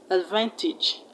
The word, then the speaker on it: advantage: age is pronounced each advantage advantage vintage footage hope that's clear so the a's are pronounced as short e e is not advantage